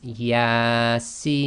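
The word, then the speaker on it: يس: it's six long okay so that would be pronounced as ya see okay and if you go to surah yaseen and listen to that first line you'll see how they pronounce that okay so what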